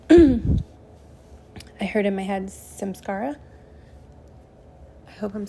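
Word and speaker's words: samskara: was walking earlier I heard in my head Sims Scara I hope I'm saying that correctly um my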